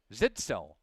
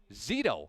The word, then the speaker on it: Zito: Number 93 for SPASH, Zach Zitzo, bringing him down. Zito, correction.